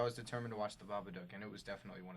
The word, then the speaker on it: Babadook: Is that how you pronounce it? It's the Babadook. It's the Babadook.